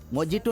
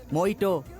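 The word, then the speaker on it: Mojito: वैसे भी मोजिटो नहीं, मोइटो। जे साइलेंट, ब्लडी थीप।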